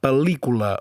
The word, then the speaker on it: pel·lícula: Se pronuncia com dues L's seguides, com per exemple pel·lícula o síl·laba.